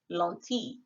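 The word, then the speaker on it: lentille: 12th century a.d and it was french pronounced lonti this tells us that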